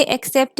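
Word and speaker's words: accept: Guys, कुछ लोग इसे एक्सेप्ट भी प्रोनाउंस करते हैं, दैट इज रॉन्ग प्रोनाउंसिएशन। ये एक्स नहीं होता, इसे हम एक्सेप्ट बोलते हैं, एक्सेप्ट।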